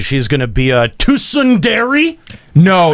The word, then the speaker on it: tsundere: It's Tsundere. There's Too a T. soon. There's a T there.